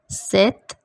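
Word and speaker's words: sept: zero sunk set your p is silent we are pronouncing it like set wheat wheat nav naf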